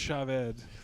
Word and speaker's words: Chavez: It's pronounced Chavez.